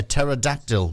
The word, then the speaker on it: pterodactyl: why can't you a pterodactyl go to the bathroom oh oh and why because the p is silent oh yeah got it